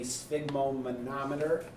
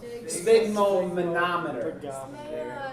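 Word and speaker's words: sphygmomanometer: that's what it's called say it right I think I did spma now you say it wrong spig monometer it seems like there's an extra syllable in there but it is correct can you oh wait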